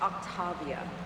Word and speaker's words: Octavia: And it's pronounced Octavia.